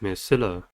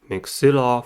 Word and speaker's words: maxilla: The next word is maxilla. Maxilla has three syllables and the stress is at the second one.